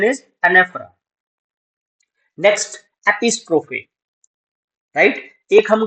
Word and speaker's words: anaphora: Pronunciation is एनेफरा।